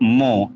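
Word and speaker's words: mho: ओम इवर्स ओम इवर्स या इसको उल्टा लिख दो मो एम एच ओ मो मतलब स्पेलिंग उल्टा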